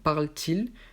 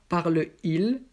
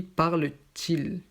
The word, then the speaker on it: parle-t-il: Et ici, donc, le T est pour la prononciation, donc parle-t-il, parce que parle finit avec une voyelle et il commence avec une voyelle aussi. Donc, on ne dit pas parle-il, on dit parle-t-il.